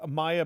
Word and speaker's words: MAIA: vitto is the founder CEO chairman president of Maya biotechnology Vlad am I saying that right is it Maya m a a is that the way you pronounce it yes Maya their uh ticker symbol is m AIA so